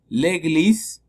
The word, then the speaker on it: église: L'église, la E es muda porque no tiene acento, l'église. L'école, ¿sí?